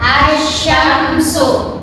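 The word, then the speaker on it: الشَّمْسُ: Alif lam syamsiyah itu alif lamnya tidak dibaca jelas karena ada tasdid. Nah, contohnya yuk bareng-bareng. 1 2 3. Asyamsu sama Arrahman.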